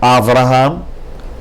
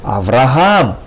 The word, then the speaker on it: Avraham: Unlike in English, you would pronounce it as Abraham with the accent on the first syllable, Abraham. In Hebrew, you would pronounce it with the accent on the last syllable, Avraham. Not Avraham, not Avraham, but rather Avraham.